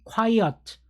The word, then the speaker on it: quiet: 그 다음에 얘는 quiet, quiet 에서 형용사예요.